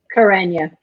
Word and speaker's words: Karanya: Well, Karanya is how I would pronounce it.